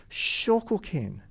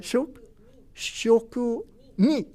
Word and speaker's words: shokunin: And that word is shokukin. Shokukin is often, and sorry for my terrible pronunciation, but shokunin.